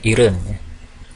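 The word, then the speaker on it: 일흔: Ireng bukan Ilham Jadi kalau dibacanya lambat maka dibacanya Heaven tapi kalau dengan cepat makanya Irene untuk 80 adalah ya oke yoden 9690 ehem-ehem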